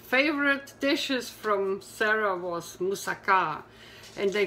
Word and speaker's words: moussaka: one of the favorite dishes from Sarah was moussaka and they call it a steak pronounce it moussaka not moussaka that's the first